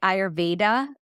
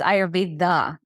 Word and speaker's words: Ayurveda: so not VC in in the west we say ayurveda because we're not used to saying thee sound like we do in India it's ivthe like you're saying the